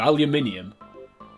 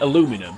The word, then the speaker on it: aluminium: as you'll say yeah they pronounced it aluminum so you know that